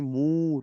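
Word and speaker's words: ಮೂರು: इसको बोलते करते हैं इसको बोलते हैं मूर्त रूप देने की स्पेलिंग देखिए जो मैंने लिखकर रख यहां एम ओ आर you should तीन कम बोलते मोरू आइए 4 को देखते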